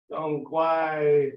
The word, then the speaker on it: Dang Gui: Dang Gui, the real, that's how it's pronounced, spelled in America. The real spelling is Dang Gui, G-U-I.